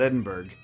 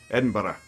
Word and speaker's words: Edinburgh: when they hear someone say Edinburgh. It's not Edinburgh. Just think of bread and butter. Bread and butter, bread and butter, bread and butter, bread and butter. Yeah, Edinburgh, right? That's the way to pronounce it.